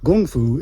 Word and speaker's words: gongfu: it gum flu is how I heard it pronounced in China gongfu is just hard work so kung fu is